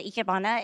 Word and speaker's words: ikebana: absolutely so we're doing a few things the ikebana is japanese flower arrangements that's how you say